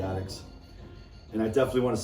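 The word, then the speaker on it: Adicts: I call them the Addicts because of the way it's spelled, but it's the Addicts.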